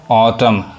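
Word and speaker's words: autumn: ऑ पढ़ाए author ऑटम अब generally इसको लोग गलत पढ़ते हैं ऑटम कहते हैं ये लास्ट का जो एन है वो क्या है साइलेंट है नहीं पढ़ाए क्या पढ़ाए ऑटम बस यहां तक पढ़ाए ऑटम ऑडियो डॉटर यहां भी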